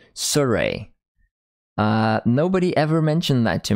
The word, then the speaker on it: Sirui: I'm going to be calling them Surrey. Thank you for not correcting me, guys. Amazing. Wow. So helpful. yeah. Okay, Sirui. So I'm not the only one who's saying it wrong. Well, apparently we're all saying it wrong. It's Surrey.